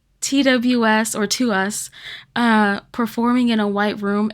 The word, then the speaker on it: TWS: And they pronounce it to us.